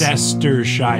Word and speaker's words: Leicestershire: Well, especially, too, because when I see down here and it's There's a like million syllables. Leicestershire.